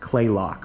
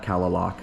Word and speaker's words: Kalaloch: By the way, guys, it's actually pronounced Kalaloch Lodge, not Kalaloch.